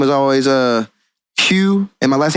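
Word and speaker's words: Haug: Hugh, like with the G, like but you spell Hugh like H-A-U-G. Yeah, Hugh. Like the G is silent.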